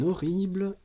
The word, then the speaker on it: horrible: Il fait un horrible cauchemar. Donc tu écris la phrase. Il fait un horrible, attention, H muet 2R, cauchemar, co avec AU, chemar, et un point à la fin de la phrase.